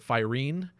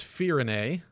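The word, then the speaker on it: Firene: kingdom of firenae uh the first trailer I wasn't quite sure how to pronounce it so I called it firing um but it's fear in a that seems to be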